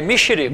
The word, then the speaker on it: Mixirico: A pronúncia é correta, Mexerico. É Mexerico ou Mexerico? É Mexerico.